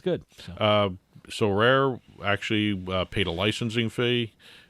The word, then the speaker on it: Sorare: like, well, I would never know how to pronounce SoRare. SoRare? SoRare.